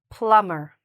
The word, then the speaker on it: plumber: "Plumber". You're like, "What? But there's a bee." Yes, I know. It's silent. We don't say the "bee", okay?